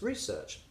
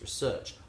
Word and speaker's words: research: So the noun is research. I've done the research. I was looking at the research and it says this. However, the verb is research. I'm going to research that. When I was researching that the other day, and that's how you work it out. The noun always stresses on the first syllable, the verb on the second.